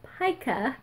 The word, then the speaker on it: pica: My doctor did tell me not to eat flour because if you watched a previous video, I have pica. Found out how it's pronounced. Pica.